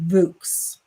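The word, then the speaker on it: Vooks: one year subscription to vux i don't even know if i'm saying that it's v-o-o-k-s and i'm assuming it rhymes with books so voice it's probably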